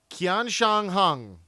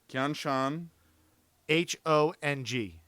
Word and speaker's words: Qianshanhong: There's no U behind it, so it's not a qua. It's a kia.